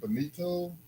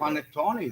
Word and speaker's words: panettone: like with the cakes, like what is it, bonito cake? He's not saying it right. Go ahead. No, that's okay. Boniton.